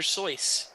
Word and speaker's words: Seuss: Seuss is actually pronounced Dr. Seuss. Yeah, if it's German. EU, the EU letter combination in German is pronounced Oi.